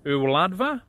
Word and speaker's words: Y Wladfa: Duncan from Wales to help out with the pronunciation. Hey, shwmai Paul, ti'n iawn? Right, rydych chi'n dweud e fel hyn, y wladfa and y wladychfa Gymraeg.